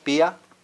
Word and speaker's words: pia: And then IA generally is not a diphthong, but rather the I is pronounced separately from the A. So pia is to have or to guard.